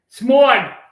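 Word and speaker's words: Smaug: Smog. I'm a New Yorker. It's how we say these things. That's that's how it's phonetically. Smog.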